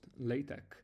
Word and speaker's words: LaTeX: So, first of all I recently discovered this is pronounced LA-TEK.